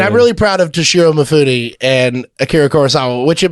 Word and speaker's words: Mifune: And I think it's Mifune. I think they like say the E. Yeah, I think you're right. I don't think that's yeah. Sig silent E would be. No, that's an English thing.